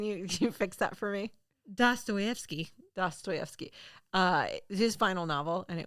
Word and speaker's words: Dostoevsky: Dostoevsky's final novel. I have it written out in the pronunciation. Oh, good. Can you fix that for me? Dostoevsky.